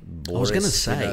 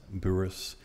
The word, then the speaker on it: Bouris: so from Petes to buris yeah wow and because it doesn't sound like a it sounds a little bit Baltic Boris like how you spell it well it's two syllable so up north where